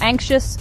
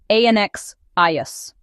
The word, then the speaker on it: anxious: The pronunciation has 2 syllables, anxious. Listen. Anxious. The X sound is like KSH.